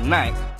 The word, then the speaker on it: Nike: In a city where Nike is pronounced Nike, we started with an